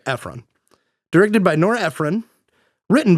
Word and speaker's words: Ephron: Norah Efron, I think we'll go with Efron or Ephron. It'll go Ephron.